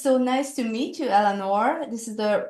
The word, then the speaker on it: Eleanor: It's so nice to meet you, Elanor.